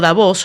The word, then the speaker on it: Davos: en el Foro de davos algunos me preguntan por qué digo davos la la pronunciación real es davos con después se hispan